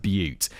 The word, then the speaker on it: Butte: Elephant Butte. Oh, it is pronounced. Kevin's given me a pronunciation guide in the next sentence. It's pronounced Butte.